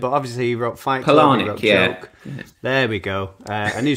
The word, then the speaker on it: Palahniuk: surname wrong, because I don't know if I'm pronouncing it, but Chuck Palahniuk, that's how I've said it multiple times. If I'm wrong, then I'm sorry. But obviously he wrote Fight Club. Palahniuk.